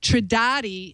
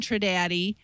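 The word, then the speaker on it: Trindade: pronounce this thing and it says to not say the end so tradat is is the way it looks like it's supposed to be pronounced tradat Island um they're only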